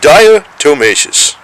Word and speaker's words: diatomaceous: that's what is diatomaceous that's what it is diatomaceous that's how you say it what a what